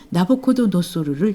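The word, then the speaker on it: Nabucodonosor: 오페라 제목인 나부코는 바빌론 왕 느부카드네자르의 이름의 이탈리아식 발음인 나부코도노소르를 줄인 이름입니다.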